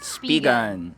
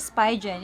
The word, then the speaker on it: Spigen: from Spigen. Yeah, so lately lang namin nalaman na hindi siya Spigen, it's Spigen.